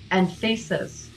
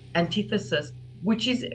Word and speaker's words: Anthesis: So this one is, a lot of people are getting their name wrong. It's actually Anthesis. It's something that I really should have had some foresight, because you immediately think Antithesis, I don't mind people